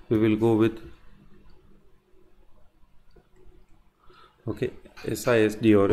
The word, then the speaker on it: SISD: going with multiple we will go with okay sis D or F so this is normally called theta doll it is normally pronounced as as sis D so we will consider instruction stream first then